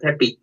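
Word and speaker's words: Pepi: Peppa called Peppe. We call it Peppy.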